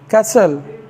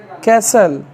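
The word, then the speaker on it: castle: टी है dear view T silent तभी रहता है जब टी के पश्चात एल ई आ जाए जैसे सी ए एस टी एल ई कैसल क्या पढ़ेंगे इसको कैसल नेक्स्ट व डब्लू एच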